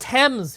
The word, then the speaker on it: Thames: Pronounced Thames. Right, the River Thames.